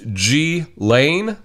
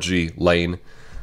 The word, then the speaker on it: Ghislaine: way from what I saw her name is pronounced G Lane that's how she said it I think in in French it's pronounced a little differently but in English it's pronounced G like it with hard G Lane so G Lane Maxwell arrested today we'll just